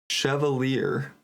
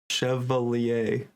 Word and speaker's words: Chevalier: wide oh good opportunity chalier Chevalier Jordy back to civa Chevalier that's how I'm goingon to stick to pronouncing it Gard up to